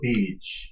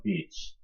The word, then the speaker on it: beach: on the beach. 발음 조심하셔야 되죠. 장음이에요. beach. 짧게 beach 하면은요. 뭐요? 나쁜 아이.